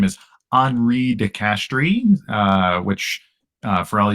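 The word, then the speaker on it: Henri de Castries: be Belgian or something but his name is HRI de castri uh which uh for all you English speakers is spelled like Henry de Castries and so you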